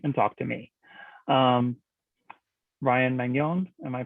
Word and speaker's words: Magnon: Ryan Magnon, am I pronouncing that correctly? I love it when it's pronounced that way, but yeah. Okay. Magnon. Is that so European? Yes, it's French.